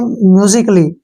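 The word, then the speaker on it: musically: वाई अब फिर से ए के बाद जो है डबल एल वाई आया है तो यहां पर ए साइलेंट रहेगा ठीक है ना इसको हम पढ़ेंगे म्यूजिकली म्यूजिकली नहीं पढ़ेंगे म्यूजिकली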